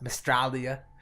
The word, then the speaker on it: Mystralia: Which Mandroid, who was our guest last week, he taught me to pronounce it like Australia, Mystralia.